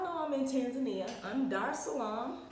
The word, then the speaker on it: Dar es Salaam: I'm Dar es Salaam. Dar es Salaam. Eventually I'm gonna say it like they said. Dar es Salaam. It's like one word instead of like 3 words, right?